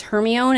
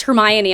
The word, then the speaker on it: Hermione: heard the word said to me personally it was hermione until i listened to watch the movie and they were like it's hermione i'm like oh oh